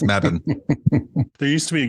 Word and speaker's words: Mebane: to pronounce something yeah me Bane no it's Madden there used to be